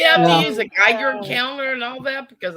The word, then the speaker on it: Geiger: use a Geiger counter and all that?